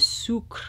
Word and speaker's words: Sucre: Bristles Beauty back in with the EO2 with Sucre. I wanna keep saying Sucre like azúcar, but that's definitely not how you pronounce it the French way, Alethea.